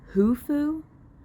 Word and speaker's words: Khufu: Both names start with a KH, but they don't really pronounce the K like they do in the first 2 books. They just pronounce it as an H.